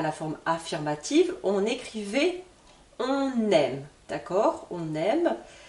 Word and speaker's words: on aime: forme affirmative on écrivait on aime d'accord on aime ici je fais la liaison entre le N du on et le verbe aimer avec le E on aime pour la forme négative